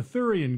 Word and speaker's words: Theuerian: our last broadcast the thoran guard that's still pronounced like sewer only with a lisp has intensified its effort